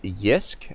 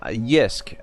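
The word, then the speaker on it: JYSK: but there's this um there's this company called yisk uh it's very similar to ikea it's spelt uh here let me spell it for you in the chat uh j y s k so um yeah so yisk um i i'm pretty sure you can probably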